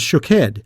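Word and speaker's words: שֹׁקֵד: variation on the pronunciation almond is shakhed and watches shook head but if you were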